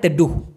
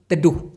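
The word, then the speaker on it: teduh: যে ছায়া পড়তেছে এই ছায়াটাকে আবার বলা হয় তেডুহু টি ই ডি ইউ হেইচ তেহু তেড্ডুহু আশা করি ব্যাপারটা ক্লিয়ার হইছে ভিডিও বানানোর সময়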